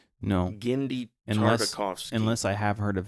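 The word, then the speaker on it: Genndy Tartakovsky: But have you ever heard of Gennady Tartakovsky? No. Gennady Tartakovsky.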